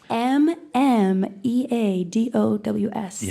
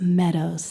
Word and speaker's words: mmeadows: some confusion out there m-m-e-a-d-o-w-s and it's not M Meadows it's just Meadows the first m is silent yeah the first M